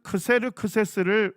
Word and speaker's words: 크세르크세스: 고레스대 크세르크세스 일세 자크스 크세르크세스를 성경은 뭐라고 하죠 아로라 합니다 그니까 히브리어 발음으로 할 때는 아하수에로 그리스 발음으로 할 때는 크세르크세스 동일한 인물입니다 그다음에 아닥사스다 일까지 어디에